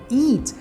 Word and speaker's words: eat: curtinho já esse aqui o verbo eat é um I bem prolongado então a gente fala eat eat bem prolongado então comer vai ser